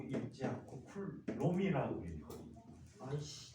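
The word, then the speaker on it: coulomb: 플롱 단위는 C자라고 쓰고 뭐라고 읽어? 쿨롱이라고 읽지 않고 쿨롬이라고 읽어.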